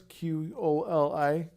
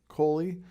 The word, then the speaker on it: QOLI: A QOLI is what it's pronounced as, QOLI, QOLI.